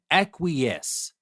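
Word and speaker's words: acquiesce: u i e c acques I know it sounds different from the way it is written but some words in English are like that so it is AC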